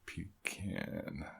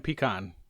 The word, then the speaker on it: pecan: Pecan. Not even pecan. It's pecan. Oh, pecan. It's almost like one syllable.